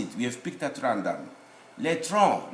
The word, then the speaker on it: tronc: You write C, you don't pronounce it. We have picked at random. Le tronc, not le tronc.